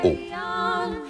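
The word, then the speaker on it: Å: Le dernier village des Lofoten, tout au sud, est celui qui porte le nom le plus court, une seule lettre, A, avec ce petit rond au-dessus qui fait qu'on le prononce O.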